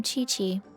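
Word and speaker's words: Qiqi: welcome to boo-boo pharmacy i am chi-chi oh i did say it right once upon a time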